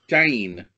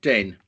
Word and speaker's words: DEHN: dying dating right so there's my first question Jane not den right okay I'd always pronounced it den me onto the boat nothing called worse as